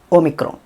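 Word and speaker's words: όμικρον: 'not' എന്നതിലെ പോലെ 'o' ശബ്ദമാണ് ഒമൈക്രോൺ. 'o' ശബ്ദം ഇവിടെയാണ് വരുന്നത്. ഒമൈക്രോൺ.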